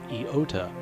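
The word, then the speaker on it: iota: there is another letter an i which is pronounced eota in Greek these three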